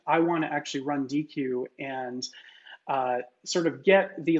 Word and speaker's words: Deequ: So these run as Spark jobs, and there's this open source library that's called Deque, and it's called Deque because it stands for data quality, D and Q.